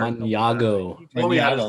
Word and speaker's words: Mañago: Maniago.